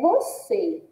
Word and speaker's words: você: Nós percebemos também que se trata de um oxítona, né? E a sílaba tônica é o C. Mas esse E não está com som aberto, está com som fechado, ó.